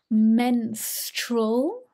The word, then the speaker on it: menstrual: and pronunciation in particular menstrual menstrual so this is stroll at the end muscle cramps muscle notes